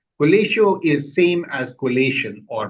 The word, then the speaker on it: Colatio: So colatio in Latin, it's pronounced as collateo. Colatio is same as collation or putting things together.